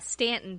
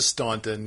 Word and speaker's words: Staunton: Well, talking about places that get pronounced different ways, so we were in Stanton, Virginia over the past weekend, and it's spelled Staunton. Yes, as opposed to Staunton. Yes, it is Stanton.